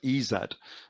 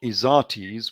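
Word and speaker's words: Izates: Son of ezed yes which again shows the true pronunciation it's the son of ezed not izatis which was his full name um now they're calling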